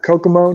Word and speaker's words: Kokomo: that kokomo koko yeah kokomo just like the beach kokobo kokomo indiana we